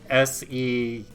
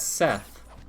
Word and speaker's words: Set: Because, like, there is a persona called Seth. Yeah, no, that's the same guy. Okay. I've been calling him Seth. No, it's just Set.